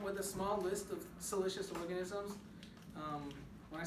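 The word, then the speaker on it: siliceous: it anything made out of silicone dioxide is pronounced celicious all right so if something is celicious it is yeah maybe maybe that uh that seaweed is pretty salous right that would be bad because that would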